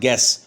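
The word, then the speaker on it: guess: किसी शब्द के उसमें यू का लेटर साइलेंट होता है जी यू ए एस गैस इसी तरह और जब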